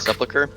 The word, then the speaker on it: sepulchre: How do you pronounce this word? Sepulchre? Crawl? Fuck. It's dark. Sepulchre?